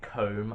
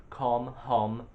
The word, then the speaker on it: Khom: Like I get comb a lot, which really does my head in. Hom. I tolerate those, but the correct pronunciation is hom.